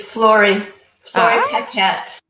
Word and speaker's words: Flori Paquette: It's Flori Ah, Paquette.